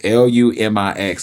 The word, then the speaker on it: Lumix: If I said it wrong, it's Lumix.